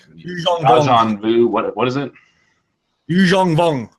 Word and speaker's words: Yuuzhan Vong: Yuuzhan Vong. Yuuzhan Vong. There it is. There's the pronunciation I needed.